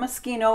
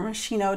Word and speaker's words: Moschino: eau de toilette from moschino or meschino depending on who how you want to pronounce this is from the cheap